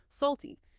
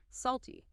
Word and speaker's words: salty: Salty. Make sure that t sound is clear. It's not a flap T here. Salty. And the L sound is important, too.